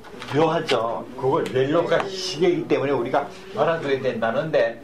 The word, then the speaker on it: reloj: 그걸 렐로가 시계이기 때문에 우리가 알아둬야 된다는데 읽으실 적에 스페인에서 J자로 끝난다는 이것도 하나밖에 없어요. 레로 한 다음에 흐를 따로 읽으셔야 돼요. 이거를. 그래서 렐로 이렇게 발음이 돼요.